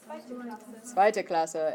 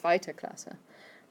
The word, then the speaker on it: zweite Klasse: Zweite Klasse.